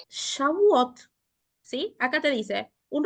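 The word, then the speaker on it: שבועות: Shabúes, se dice. No, Shavuot. Shbúes, shbúes. Ok.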